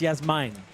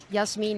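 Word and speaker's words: Jasmijn: sound for us Americans so it's not yes mean it's Yes mine and I actually really dislike it when people say yasine or Jasmine uh so what I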